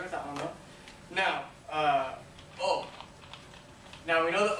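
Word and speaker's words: を: Now, O. Now we know that O is written differently, right? O is written as the hiragana wo, but it's pronounced O.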